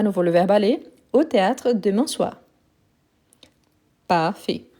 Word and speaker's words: aller: Aller, aller avec R et aller avec Z, il y a la même prononciation.